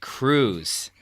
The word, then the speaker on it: Cruz: My friend Eric dubbed the substance Cruz. Rhymes with scuzz.